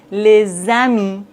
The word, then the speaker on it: les amis: Par exemple, les amis des enfants. Vous voyez dans la liaison, le S se prononce Z.